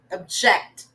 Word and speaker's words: object: Object. So the chink syllable, stress on the second one, object.